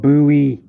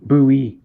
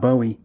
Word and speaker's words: Bowie: real jim booby knife the and it's called buoy like boo b-o-o e that's how you pronounce it b-i-w-i-e likes that no yeah but the way you pronounce it is b-o-o b-o hyphen e buoy not not bowie david bowie because that's how you're technically supposed